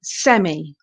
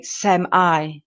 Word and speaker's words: semi: in America they say semi semi he is a semiprofessional photographer so we focus on the e sound in the British same e and the I I sound sem I in the American pronunciation okay so there are